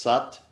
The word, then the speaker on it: Sat: it's really Sanskrit satnaam that you really say SOT and Nam it's vibrational mate really let it move through your your whole facial mask the saw or sucked it's spelled SAT but it's pronounced sucked SUT such is your truth nam is your